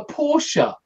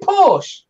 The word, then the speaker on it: Porsche: because in German you call a Porsche a Porsche that's how they pronounce it in German yeah in English we pronounce it Porsche yes but that's a it's a different language